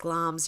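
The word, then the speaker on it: Glamis: castle situated beside the village of glams yeah pronounced glams yep in angus scotland's the home of the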